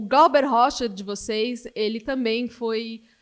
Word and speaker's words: Glauber Rocha: When I saw first, you pronounce him differently, Glauber Rocha. We say Glauber Rocha.